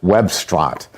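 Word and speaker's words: Webstaurant: use a lot called Webstrant. I have to spell it for you because it sounds like web restaurant, but I guess they couldn't get the rights to that.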